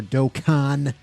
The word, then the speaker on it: Dokkan: into dragon ball z dokken or dokkan battle as uh some people have pointed out is the proper pronunciation but screw it we're still gonna say dokin i don't even care